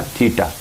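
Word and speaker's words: theta: इसको प्रोनाउंसिएट करना है तो ऐसे कहना थीटा, थी थ की आवाज़ थोड़ी सी आती है, थीटा ना, थीटा है ये।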